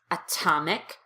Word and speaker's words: atomic: When T is between vowels in the American accent, it does turn into a D. However, if the T is at the beginning of the strongest syllable, as it is here in atomic, you have to pop the T out as a true T.